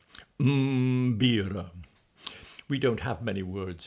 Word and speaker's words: mbira: particular instrument, the African mbira. That's a word spelled m b i r a. You have to start with a mm followed by a b. Mm-bira.